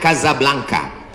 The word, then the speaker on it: Casablanca: Ibu kotanya tulisannya Casablanca. Cara bacanya Kazablanka. Kaza artinya rumah. Blanka artinya putih.